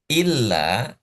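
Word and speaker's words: إلّا: nih inih ini Beda kalau illa pakai tasdid kita baca ada ada stressing illa artinya kecuali lailaha illa illallah kecuali Allah. Tapi kalau dibacanya ila tanpa tanpa stressing, tanpa tekanan itu artinya ke ke atau sampai atau menuju ila dengan illa itu beda. Hanya beda tekanan ternyata maknanya juga sangat sangat beda.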